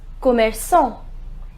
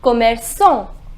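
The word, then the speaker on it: commerçant: hop cut next shopkeeper shopkeeper is Khmer song the pronunciation is Khmer song I simply added e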